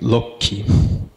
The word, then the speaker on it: Lakshmi: is shot budget and this consonant cluster in the name Lakshmi is really reduced down to low key and Padma the river